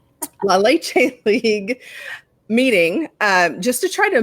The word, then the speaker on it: La Leche League: had gone to a la lychee league lychee now I'm saying it wrong La Leche League meeting just to try